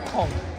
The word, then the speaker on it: Kong: Kong. Kong? Yeah. How do you spell that?